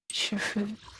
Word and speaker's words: Shifu: This person also pronounced it more like Shufu.